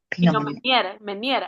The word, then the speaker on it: Pinot Meunier: Vea, Es que no, ajá, ¿cómo lo pronuncias? Bienvenida. Pinot Meunier, ajá.